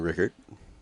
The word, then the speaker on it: Rueckert: If you just search T is silent, though.